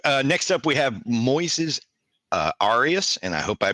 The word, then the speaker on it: Arias: So next up we have Moises Arias, and I hope I pronounced this right. I listened to a couple interviews with him. I believe it's pronounced Arias. It's Arias.